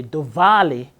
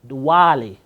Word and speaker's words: Diwali: Please note, East Indians do not pronounce the V with a V sound. They give it a W sound. So they don't say Diwali as we would say it in Jamaica.